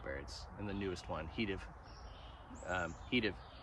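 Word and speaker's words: he'd've: and the newest one, Heative. Heative. I try to always say it like Microsoft Office would have said it to you.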